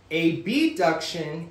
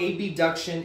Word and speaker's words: abduction: about abduction and adduction the way that we oftentimes pronounce it is a b duction I can say abduction but because abduction and adduction sound fairly the same we enunciate the a b duction so that you know that it's being abducted away